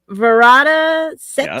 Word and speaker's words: Varada Sethu: Varada Sethu?